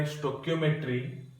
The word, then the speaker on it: stoichiometry: So in this class we will read what do you mean by stoichiometry and its calculations. Okay, stoichiometry and its calculations. Pronunciation is K.